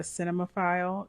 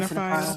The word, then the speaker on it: cinephile: Are you a cinemaphile? Is that how you say it? Yeah, I am Cinephile? a cinephile.